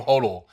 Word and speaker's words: hodl: Am I pronouncing that right? Yes, you hodl.